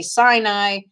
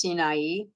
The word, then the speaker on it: Sinai: They say Sinai, but it's actually pronounced Sinai, and appear from his camp, and appear in the strength of his might from the Shamayim of Shamayim.